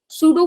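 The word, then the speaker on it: pseudo: सूडो force, अगर आप definition वगैरह सर्च करो सूडो वर्ड की, तो इसमें सबसे पहले तो पी साइलेंट है, ठीक है? सूडो होता है, इसका मतलब होता है फॉल्स फोर्स, फेक फोर्स, है ना?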